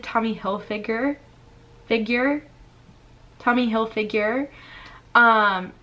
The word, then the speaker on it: Hilfiger: I never knew it was Tommy Hilfiger. Never. But now I know, thanks to you guys. So, thank you, I guess, for calling me out and telling me the right way to say it. Tommy Hilfiger.